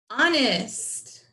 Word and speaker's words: honest: On, that's not like Mr. O, it's ah.